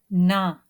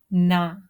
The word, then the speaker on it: ن: Well, while pronouncing noon, sounds go to the nose automatically, which is a must. Na, ni, nu, nahnu, nahnu, numitu, numitu, عنهم عنهم يقولون يقولون.